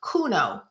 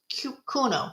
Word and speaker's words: Quinno: is her math Michelle I think it's pronounced Kuno quu i n n o Kuno I think that's how you say it but if it's not